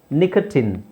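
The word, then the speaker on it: nicotine: next ಡಾಕ್ಟ್ರಿನ್ ಡಾಕ್ಟ್ರಿನ್ ಇನ್ ನಿಕಟಿನ್ ಸಾರಿ ನಿಕಟಿನ್ ಇಲ್ಲಿ teen ಅಂತ ಹೇಳಬೇಕು ನಿಕಟೀನ್ ಎಂಡೋಕ್ರಿನ್ ಇನ್ ವ್ಯಾಕ್ಸಿನ್ ಇನ್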